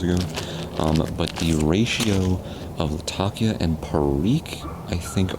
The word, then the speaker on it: Latakia: with the latakia there some people say lot of Kia I heard it's Latakia I also heard a lot of kid how do you pronounce